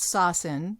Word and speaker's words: Sosin: s-o-s-i-n correct yeah so it's pronounced saucin but it's s-o-s-i-n so the people are